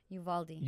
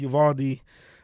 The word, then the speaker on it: Uvalde: Yuvaldi. Yuvaldi.